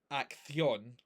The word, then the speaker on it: acción: As I explained last night, the sh sound doesn't exist in Spanish. So you wouldn't pronounce it as acción, it's acción or acción. So either with a TH sound or an S sound.